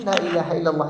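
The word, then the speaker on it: لا إله إلا الله: Sallallahu Alaihi Wasallam buat dan diajarkan para sahabatnya dibacanya Lailahaillallah ini dipahami dan dijiwai mereka makna makna hati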